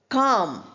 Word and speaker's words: calm: Calm. We don't say calm. L is not there.